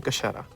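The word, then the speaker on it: Kachera: So the final article of faith is the Kashera. Kasheda.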